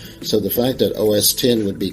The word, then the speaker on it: OS X: It's actually said OS X, because of the fact that it is the 10th operating system developed by the firm. X is just a Roman numeral that means 10, which could be part of the confusion.